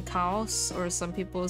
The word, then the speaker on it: Kaos: all of them uh the preferred pronunciation is Cows as in cows but also I enjoy being called chaos because it's a fun little name you know it's like